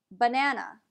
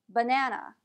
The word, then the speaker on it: banana: example consider the word banana in that word both the first a and the last a are pronounced as a schwa an ah listen again banana uh banana how about